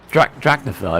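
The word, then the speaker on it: Drachinifel: Drachnafil, if that's how you say it.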